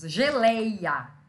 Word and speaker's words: geleia: Então, o lei, que é a última sílaba, é a sílaba tônica. É a que eu falo mais forte, lei.